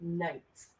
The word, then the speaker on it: knights: Knights of armor. The Knights K of is Armor. silent. The K is silent.